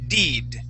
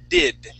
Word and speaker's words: did: whenever um uh you you were reading the word did okay you were saying deed using the Italian I that e sound okay but you want to say I the short I did did and this so